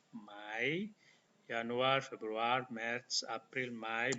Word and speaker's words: Mai: Januar, Februari, Maret, April, bulan Mei disebut Mai, bukan Mei, Mai, Januar, Februari, Maret, April, Mai, bulan Juni.